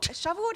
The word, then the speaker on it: Shavuot: Shavuot is hard for me because you have to go hard on the ah. Shavuot. Like you have to know going in that that's where you're emphasizing.